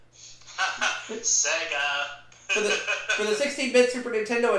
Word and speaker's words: Sega: He mispronounced Sega as Saga. Sega.